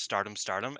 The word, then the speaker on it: Stardom X Stardom: pay-per-view Stardom X Stardom, which I've realized is just pronounced Stardom Stardom, and I don't like that, so I'm going to keep calling it Stardom Very X good.